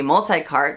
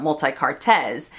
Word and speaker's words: Multi-Cartes: For example, multi-cart should be multi-cart, not multi-cartes.